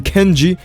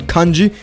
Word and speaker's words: Kanji: besides the fact that he pronounced my name kenji and not kanji get it right my